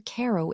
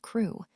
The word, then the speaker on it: Crewe: Madame Pascal pronounced it as if it were ko instead of crew.